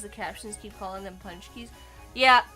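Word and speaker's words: Pączki: Then we have Paczki rhymes with chunky, kind of.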